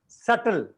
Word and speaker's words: subtle: Second last is सटल. यानी कि जब भी बी और टी साथ में आएगा, बी विल बी साइलेंट.